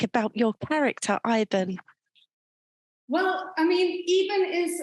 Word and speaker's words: Iben: We pronounce the E instead of the I.